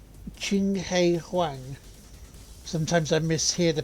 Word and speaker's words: Huang: Wang is pronounced Wong.